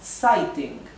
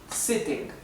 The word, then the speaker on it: sitting: su pronunciación larga a Entonces esto quedaría Sting cambiaría la original de la raíz del verbo que es set por eso se le agrega una segunda t y queda la t duplicada que vemos aquí sitting para que conserve la pronunciación original de la raíz del verbo To Sit sitting bien bien eso era